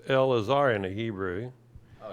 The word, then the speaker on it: Elazar: the first syllable so it is absolutely silent and not pronounced so L AAR okay